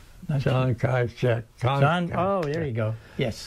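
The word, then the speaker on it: Chiang Kai-shek: Kong Chai. How do you pronounce it? Saigon? John Kaichek.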